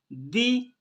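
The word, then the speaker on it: the: दी earnings, दी pronounce किया जाएगा, क्यों, क्योंकि आगे वोवल साउंड है, ठीक है ना।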